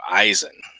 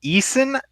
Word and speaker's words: Eisen: phonetic sense in English the AI makes three different phonics sounds in this language none of them are I makes perfect sense in German but but in English yeah a lot a lot of folks have have difficulty pronouncing it so you get like yes in Eason I some people see the I is an L and I've got before a lot of